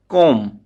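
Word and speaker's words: comb: तो वह क्या है कोम अंडरस्टूड क्योंकि जब भी एम के बाद बी आता है देन बी बिकम साइलेंट तो चलिए फिर से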